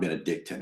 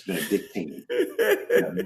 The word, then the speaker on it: Benedictine: It's not Benedictton, it's Benedictine. That point is I'm just kidding.